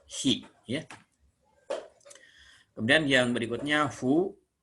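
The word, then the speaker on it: ふ: Kemudian yang berikutnya Fu. Ini huruf Latinnya boleh dengan F dan U, Fu, atau H dan U, Fu ya. Jadi bunyinya seperti kita meniup lilin dibunyikannya Fu ya.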